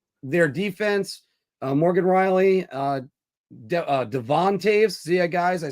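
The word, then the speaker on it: Toews: And then looking at their defense, Morgan Riley, Devon Taves.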